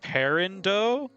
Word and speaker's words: peridot: I think the word you're saying is peridot, which is pronounced for some reason, probably blame the French. Perindo?